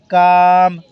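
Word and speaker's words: calm: निकालेगा ठीक है मा काम काम लंबी आवाज के और एम की आवाज आ रही है एल साइलेंट है और फर्स्ट प्लेस वल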